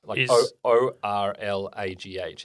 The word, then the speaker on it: Orlagh: G is silent. Okay. In Irish. Okay. So if there's like GH, it's just an R. So is ORLAGH is Orla. Yes. So it's the GH is irrelevant.